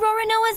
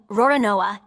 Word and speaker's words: Roronoa: because Japanese pronunciation didn't have an L, it becomes an R Before Zoro from One